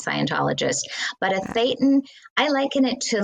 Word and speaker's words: thetan: Right, a thetan. Yeah, Thetan? that's how they would pronounce it, a thetan, right.